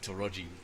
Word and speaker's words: Taraji: Pronounce the A like an O in Taraji. Thanks, Emmeline. Taraji.